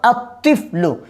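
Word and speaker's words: الطفل: হবে না আতলমি যেমন আতফলু তিফলনের সাথে আলিফ লাম যোগ করলাম কি হবে আতফলু লেখার মধ্যে আসবে কিন্তু উচ্চারণে আসবে না।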